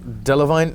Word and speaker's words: Delevingne: it up to me but Cara a divine delevingne actually yes ok that's how we pronounce it I didn't want to mispronounce your